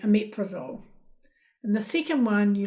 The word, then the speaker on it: omeprazole: So the first one you might think, okay, I could say omeprazole, but you actually say omeprazole.